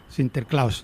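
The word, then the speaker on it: Sinterklaas: Nicolás la fiesta en en holandés se llama sinter cl sinter clus no la pronunciación va más o menos por ahí sin inter clus y cuando eh los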